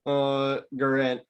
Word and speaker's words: Guerin: The Minnesota Wild general manager Bill Guerin, Yeah. however the hell you pronounce that name. Guerin, it's just Guerin.